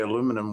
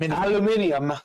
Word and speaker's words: aluminium: Jason says the Brits say aluminum weird. Totally agree. They add an extra I. Aluminium.